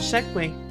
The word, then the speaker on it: segue: It was kind of a strange segue. Correct pronunciation.